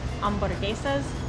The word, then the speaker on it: hamburguesa: Now, we didn't actually order this, but I saw at the front that they have hamburguesas. Wait, you don't pronounce the H in Spanish, so it's hamburguesas de camarón.